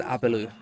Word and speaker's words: アベル: The way they pronounce Abel's name is Abelu. Yeah, that's just the Japanese alphabet. They naturally say it that way in their pronunciation and phonics.